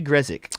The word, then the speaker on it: Grezik: Gregory Grezik. Greg. That's how his name's pronounced for anyone who's wondering. That's Gresick.